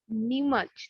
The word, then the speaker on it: Neemuch: The place you come from is Neemuch, right? Yeah, Neemuch. That's the pronunciation? yeah, exactly.